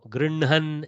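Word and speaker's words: गृह्णन्: Grihnan, no. Grinhan is how we pronounce it.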